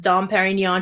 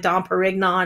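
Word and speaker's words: Dom Pérignon: you know she like mispronounces dom perignon she says like don perignon and she kind of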